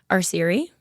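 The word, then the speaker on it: Arceri: Areri. How do you spell that?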